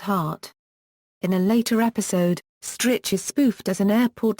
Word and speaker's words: Stritch: him because of having a name that rhymes with Wich snitch btch elain strich to which